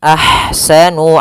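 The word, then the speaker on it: أحسن: padafal ahsanu di sini ada ha yang berharakat sukun maka dinamakan dengan ha hams ah alirkan nafasnya ah ah kemudian baru dibaca dengan Sanya ahsanu Amala Ain Amala maka pada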